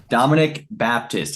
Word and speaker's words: Dominic Baptist: do you pronounce it Dominic Baptist exactly how it sounds that's how uh you